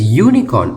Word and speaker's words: unicorn: little bit why because unicorn is pronounced like university which is with a